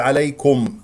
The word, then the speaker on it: عليكم: ياء ايضا سهله لينه ياء ساكنه قبلها مفتوح والكاف لا تفخمه تقول عليكم الكاف مرققه عليكم هنا ميم مظهره عليكم